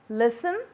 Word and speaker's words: listen: And the last one is T in fasten, gourmet, listen, and castle. In all these words, the silent letters are highlighted in red.